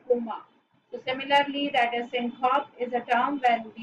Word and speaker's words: syncope: Syncope क्या होता है? Is when we delete the vowels from the words. It's syncope. Its proper pronunciation is syncope.